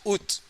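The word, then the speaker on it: août: but in this case, August, we pronounce ut. The spelling is A O U T, but we just simply pronounce it ut.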